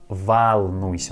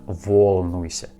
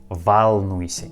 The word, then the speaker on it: волнуйся: In this word волнуйся, letter O we pronounce like а, волнуйся, not волнуйся, волнуйся, не волнуйся, не волнуйся, не волнуйся.